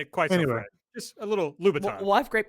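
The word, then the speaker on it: Louboutin: say gang girl and I and I it's Laton L which is how you pronounce it yeah I I yeah I think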